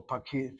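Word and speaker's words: פָּקִיד: A kid has two syllables. The accent is on the last syllable.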